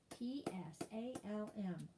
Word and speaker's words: psalm: would should s-h-o-u-l-d should often o-f-t-e-n often psalm p-s-a-l-m yolk halfway h-a-l-f-w-a-y halfway doubt d-o-u-b-t doubt calm